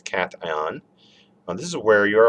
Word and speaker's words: cation: all right so um cation okay obviously not pronounced cache and it's cation and this is where